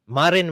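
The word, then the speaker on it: Marijn: Because if some guy called Martin Van Putin says it on Marin Van Putin, that's how you say his name, this great academic, I actually support him on Patreon.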